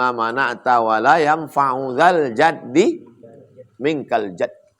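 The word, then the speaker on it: جدّ: Allahumma la mani'a lima a'taita wa la mu'tiya lima mana'ta wa la yanfa'u dzal jaddi minkal jadd. Man jadda bi fathil jim. Cara membacanya jimnya baris fathah. Jadd.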